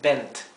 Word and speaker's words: bent: consonantes por eso esto es bent porque hay que marcar la diferencia y aclarando que es una t y no una d verdad bent Bend verdad